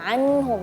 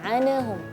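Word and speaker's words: عنهم: Ya, anhum, jangan anahum ya, karena huruf nun di sini sukun bukan termasuk huruf qalqalah, maka kita bacanya nggak boleh enggak, tapi anhum ya.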